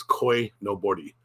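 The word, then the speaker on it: koinobori: So that's koi no bori. Koi no bori. Pronounce the R like a L.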